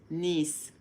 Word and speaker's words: Nice: For them, they're going to think you're talking about the city in France, niece. So that's how we say it. Like the niece, nephew, nephew, niece.